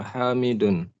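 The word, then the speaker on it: حامدُ: Aina abuka ya Hamidun. Ya Hamidu, tidak boleh tanwin ya. Hamidu ya.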